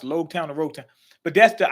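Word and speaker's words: Loguetown: concerned that's basically her son okay he's blue Rogue town it's pronounced low town of Rota but that's the island where um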